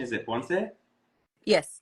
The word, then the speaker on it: Ponce: So today we have Carina, and actually I didn't confirm the proper pronunciation. Is it Ponce? Yes, Ponce. Okay. Perfect. So Carina Ponce, Ancestral Healer from Yo Soy Carina, joining us